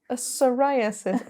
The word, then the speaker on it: psoriasis: I have to use another word with a with a silent P psoriasis pis apologies guys I